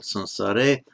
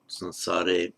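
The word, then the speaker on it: saṃsāre: Before going on, I'll just mention briefly my pronunciation of the anuswara here before that subdotted M, the anuswara before the S, both between paramartam and the next word sansare, and also within the word sansara, sansare itself.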